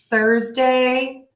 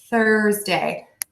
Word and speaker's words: Thursday: So for the TH sound, you make sure that that air is moving out of your mouth over your tongue. Thursday, Thursday. You can actually see there's a little dip in my tongue there so the air can keep coming out.